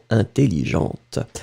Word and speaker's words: intelligent: intelligent masculine intelligent feminine remember that the first e n it will be nazal so for the pronunciation it's really inell intelligent numer set numer set